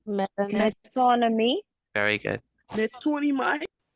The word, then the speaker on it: metonymy: Metonymy. Very good. There's 20 miles. Metonymy. Metonymy. Okay, Yeah, metonymy. Metonymy. Yeah. Like economy, metonymy.